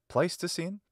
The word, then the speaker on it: Pleistocene: So it has the long E vowel, which in English comes to be pronounced I. So it should be written like this, Pleistocene, but doing so would